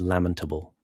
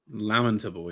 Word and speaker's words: lamentable: A classic one that people get wrong is they say lamentable. The actual pronunciation is lamentable. Lamentable. Yeah, you have lamentation and you have lament. I see I did it there. Lamentation, lamentable, not lamentable. Stress on the first syllable in English generally speaking is a rule.